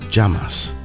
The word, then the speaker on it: llamas: ¿Cómo te llamas? What's your name? ¿Cómo te llamas? The double L is pronounced as a J, llamas.